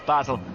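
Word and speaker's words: Basel: very IR he said you keep calling it B it's battel so I rang the French Embassy and they said either is correct sorry the Swiss Embassy and they said either pronunciation is correct mcar Holloway that's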